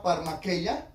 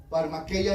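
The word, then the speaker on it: φαρμακεία: magia es la palabra parma queya parma queya así como se pronuncia con h en medio y esta palabra brujería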